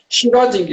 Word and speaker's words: Schrödinger: Eu já esqueci como é a pronúncia certa. Schrödinger.